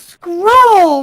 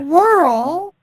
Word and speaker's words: scroll: It's scroll, not Yeah, squirrel.